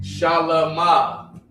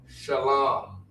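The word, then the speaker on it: שלום: You don't have to say shalom. You say shalam.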